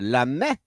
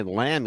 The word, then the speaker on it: Lamy: but l m y lamby it's French right it's everything's French please give me a break Michelle L it's l a m y but it's pronounced l a m e l say like that